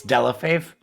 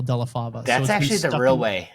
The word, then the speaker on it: Delle Fave: That's actually the real way to pronounce it, but when my family came to America from Italy, they tried to make it sound better.